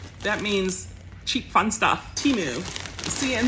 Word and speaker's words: Temu: means cheap fun stuff temu see and that's actually pronounced how it's spelled which is nice so